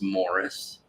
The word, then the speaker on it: Maurice: and great uncle uh the name is spelled Maurice but it's pronounced Morris oh and then I